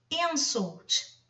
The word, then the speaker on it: insult: Insult é um insulto, ok? Agora, insult, insultar é um verbo. Reparem que a sílaba tônica está no final.